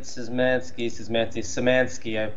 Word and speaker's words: Szymanski: Yeah, Dusk Dave, David Szymanski. You don't pronounce the Z in Poland.